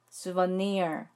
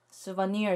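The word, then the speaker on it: souvenir: 단어 중 하나라서 가져왔어요 이 단어는 3저 단어 구 요 제일 마지막 몸인 아이의 강세가 있네요 그래서 숲 언니의 쑤 번 4 리얼 라고 발음 하시면 되요 그래서 기념품 샵은 뒤에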